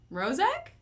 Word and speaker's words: Rozak: And like Prozac, but with an M. So Rozak? Is it kind of? Rozak.